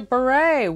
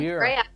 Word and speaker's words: Bure: beret what's up hello I'm so proud of you that you pronounced my name correctly well I mean ahead you be brave right know it is but you had to eat how many people say like you're a burette Wow well you know